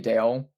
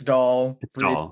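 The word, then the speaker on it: Dalle: Interviewers always call her Brody Dale. And it's like no, it's Doll. Beatatric doll. get it right.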